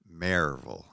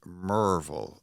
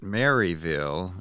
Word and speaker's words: Maryville: raised right in Maryville it's pronounced as if it's spelled m-a-r-e -v-u-l Maryville if you grew up